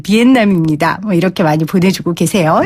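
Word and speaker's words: Việt Nam: 3535님 베트남 원토 발음 비엔남입니다.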